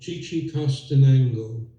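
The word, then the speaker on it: Chichicastenango: and there's about 70,000 people in it called Chi-Chi Castano.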